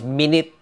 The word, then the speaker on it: minute: Because this has 2 pronunciations and 2 meanings, no? The first one is minute. Oh, that's very simple. Minute is 60 seconds.